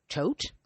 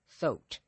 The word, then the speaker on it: Thoth: Egyptians called this energy Tot or Thoth. Or some people you might see as Thoth. Some people pronounce it Thoth. I've seen it as Thoth, Toth, Tot. So, depending on the lineage.